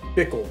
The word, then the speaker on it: Bikkle: It's spelled B-I-K-K-L-E. Bikkle.